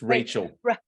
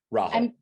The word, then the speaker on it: Rahul: It's Rachel. Rahul. Did I say it? How do you say it? Rahul. Rahul. Rahul.